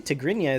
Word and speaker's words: Tigrinya: I probably butchered that pronunciation. Actually, Tigrinya is pretty much right.